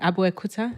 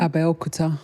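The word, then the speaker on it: Abeokuta: Aromental Health Hospital in I think it's called Abu Kuta. Am I saying it correctly? Abel Kouta.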